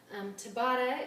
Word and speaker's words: Tabata: this a Tabata workout Tabata it looks like the name Tabitha but without the H if you're curious about